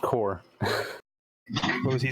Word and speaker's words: Bomb Corp.: I hate to be that guy, but it's definitely pronounced core.